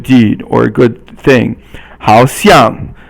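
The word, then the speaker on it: 好像: 好像, 好 is third tone, and 像 is fourth tone, and it means seems.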